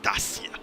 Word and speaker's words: Dacia: The The sir, sir, you need to pronounce it correctly. It's Dacia.